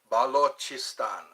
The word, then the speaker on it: Balochistan: B-A Balochistan is how you say. Balochistan.